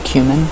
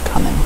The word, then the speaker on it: cumin: really funny when my grandma used to call cumin cumin she did it was coming she pronounced it coming not Q minute God lover so I